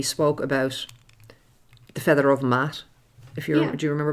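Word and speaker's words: Maat: And if you remember before, we spoke about the feather of Mat. Do you remember Mat? Mat is... Mat is spelled M-A-A-T, and Mat is the feminine aspect of Thoth, as we have in the Ogdod here.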